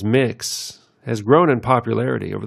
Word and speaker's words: Mx: MX, generally pronounced as mix, has grown in popularity over the past few years as more people outwardly and openly identify as transgender.